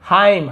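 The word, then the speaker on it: hymn: यहाँ पे हाइम, हाइम यानी होता है भजन, हाइमन ऐसे नहीं पढ़ेंगे, ठीक है।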